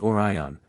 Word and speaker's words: Orion: to Alvin Alva or Orion pronounced Orion with the accent on the first whether they are indeed